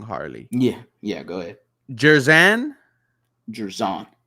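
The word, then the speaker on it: Jer'Zhan: Let me know if I say his name wrong, Harley. Yeah, yeah, go ahead. Jerzan Jerzon. Jerzon Newton, Yes.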